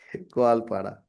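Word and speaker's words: Koalpara: Is it Kualpara? Koal. Like koala bear? Yeah, koala bear, right. Koalpada.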